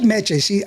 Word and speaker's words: Meché: But make sure you say her name right, or she will hit you with a chancla. That's right. She said Meche. Okay, I said it It's correctly. Meche, yeah. It's Meche. Meche.